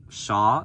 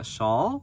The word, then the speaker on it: shawl: thingy I don't know like Shaw yeah shawl Shaw shawl I hear it pronounced both ways but anyways it's made